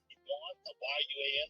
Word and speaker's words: Yuan: Unlike the dragon, tiger crane or tortoise doesn't appear on ancient bronze or pottery, in tank poetry, song paintings, Yuan, Y-U-A-N, how do you say that?